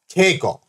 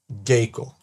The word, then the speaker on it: Keiko: Often abbreviated just to Keiko. Okay? Not Geiko.